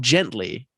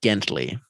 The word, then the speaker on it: Gently: Now, and it's spelt gently, but it's pronounced Gentley.